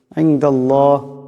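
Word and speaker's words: عِنْدَ اللَّهِ: ইনদাল্লাহ, আল্লাহ লামের ডাইনে জবর আসছে, এই আল্লাহ লামকে মোটা করিয়া পড়তে হবে।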